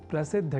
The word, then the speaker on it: प्रसिद्ध: अर्थात प्रसिद्ध को प्रसिद्ध इस स्वरूप में न समझकर या न लिखकर हम प्रसिद्ध अर्थात द और बाद में ध इस अक्षर विन्यास से युक्त शब्द प्रसिद्ध का ही लेखन और तदनुसार शुद्ध उच्चारण करेंगे।